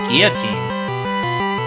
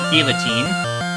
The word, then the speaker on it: Guillotine: the one-hit KO move Guillotine. And yes, that is how it's pronounced. Not guillotine.